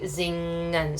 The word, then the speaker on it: zingen: So you can try to say zingen for a while, zingen, and then minimize that g sound over time so that you'll say more like zingen, so you don't have that extra g in there.